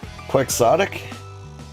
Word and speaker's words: quixotic: It's quixotic, apparently. What? The pronunciation you gave me is Kwuhk.